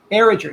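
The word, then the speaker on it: Barrager: Her last name is pronounced Barriger or Barriger? Barriger.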